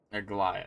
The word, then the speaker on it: Aglaea: Aglaea, that's how you say it.